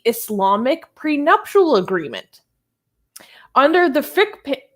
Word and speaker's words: fiqh: Under the fiqh, how do you say it, Armin? Fiqh? F-I-Q-K-A? Fiqh.